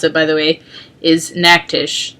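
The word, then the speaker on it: Natchitoches: the game that we play between us and Mac Tisch which that's how you pronounce it by the way is an act ish not nacho-cheese um so we've had this statue since 1960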